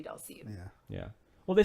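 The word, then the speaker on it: Dhalsim: That's another one that it took me a substantial amount of time to realize that it was supposed to be Dulcian.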